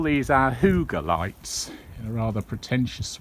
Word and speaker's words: hygge: things the hygge period h-y-g-g-e i think it's spelt but it's pronounced hygge and we call those